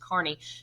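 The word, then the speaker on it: Kearny: looks like Kearney on here but it's actually pronounced Carney who is going to go west to capture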